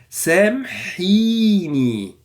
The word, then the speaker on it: سامحيني: سامحيني. And the meme also is silent. Sam, not سامح.